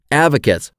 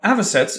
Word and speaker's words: avocets: Avocates. Well, you pronounced it wrong, but the picture helped. But avocets evolved in the Eocene.